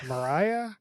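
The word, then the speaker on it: Moriah: got Maria Maria Maria Mariah dude it's spelled m o r i a how do you announce that but it's Mariah mar mar Mariah Mariah where why is there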